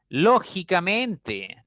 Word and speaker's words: lógicamente: Lógicamente, ¿no? Lógicamente, a veces pronunciamos esa palabra así. Entonces, lógicamente, si ustedes analizan, tiene 5 sílabas. Y la mayor fuerza está en la quinta sílaba.